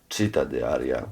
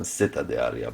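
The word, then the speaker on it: Città di Aria: I always mispronounced it. It was cheetah diaria rather than sitta dear, but you know.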